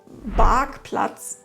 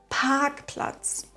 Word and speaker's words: Parkplatz: Dann sagen viele z.B. Parkplatz statt Parkplatz.